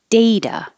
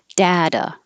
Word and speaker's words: data: on two lines because there's two ways to pronounce this and they're both totally correct data with an a or data with an a and